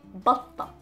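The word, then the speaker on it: بطة: The duck is batta, batta. So again, the ta and the t marboota, so the pronunciation of the t was a, batta.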